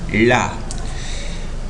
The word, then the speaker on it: la: Esse A do artigo é um A tônico. A pronúncia deste A é diferente de português. Esse A, em espanhol, é mais aberto do que o A do português. Então, nós pronunciaremos lá.